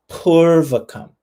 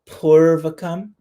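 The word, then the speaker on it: pūrvakam: but sometimes when you see a line over something that's a vowel, you can just hold it for a little bit longer and it gives you that same, a similar meaning in the Sanskrit pronunciation. So yes, purvakam. So I held it a little longer, purvakam.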